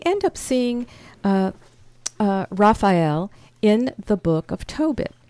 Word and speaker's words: Raphael: the Hebrew would say Rafael Rafael and so with with the um the stress being in the middle of the word which is kind of unique get our picture back